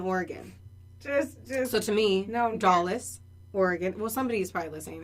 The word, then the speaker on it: Dallas: So to me, no, Dallas, Oregon. Well, somebody's probably listening there. You're like, it's called Dolls.